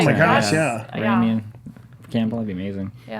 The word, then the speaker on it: Raimi: August 2nd through 4th is Flashback Weekend in Chicago Horror Con, which has Sam Raimi? Is that how you say it? Sam Raimi, yeah.